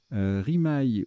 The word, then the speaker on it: rimaye: un baquet d'un baquet rimaye oury mais ça se prononce aussi harry mais c'est une crevasse